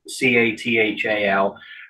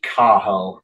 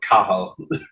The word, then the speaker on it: Cathal: And so the guy interviewing him used his Irish Gaelic name, which it's spelled Cathal, C-A-T-H-A-L. Though I know, but it's pronounced Cahal because you don't pronounce the T, so Cahal.